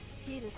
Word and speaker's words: Titus: Titus kinda rhymes with Jesus, I just realized.